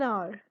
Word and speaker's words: hour: The H is silent in those words.